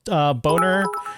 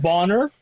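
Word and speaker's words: Bohner: Should we go off that Quicksilver / Boner thing? What did you guys think? They cast the Quicksilver. I believe it's pronounced Bonner. I think it's Bonner. Wasn't there a boner on Growing Pains too?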